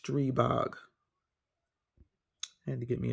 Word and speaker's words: Stribog: you go this is the street bog that's how it's pronounced you may see some people on YouTube pronouncing it strebox but it's it's pronounced stribok I had to get